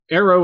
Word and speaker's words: Aero: always go to our website that's so so arrow is is spelled ero but it's pronounced arrow and it's